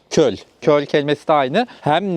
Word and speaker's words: köl: Köl. Köl.